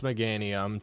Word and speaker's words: Meganium: One, it's pronounced Meganium.